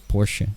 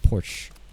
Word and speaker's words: Porsche: It's actually Porsche. A lot of people say Porsche.